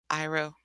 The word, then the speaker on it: Iroh: And anyway, I'm gonna say his name wrong, guys. Go for it. The uncle, Iroh.